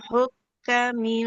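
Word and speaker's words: الحكام: Wa tud'lu biha ilal hukati hukma Hukam. wa Hukam. Ya, bukan hukmah. iya Ya. tudlu biha ilal hukami litakulu fariqam min amwalin nas.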